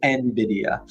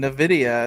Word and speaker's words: Nvidia: Um but pronounced Nvidia. So, the people on the customer support line were right. I was over here telling them Nvidia and they're probably thinking I'm silly.